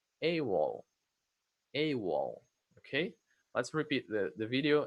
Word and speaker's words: AWOL: So AWOL is actually an acronym because you don't say AWOL, you say as a word. AWOL. AWOL.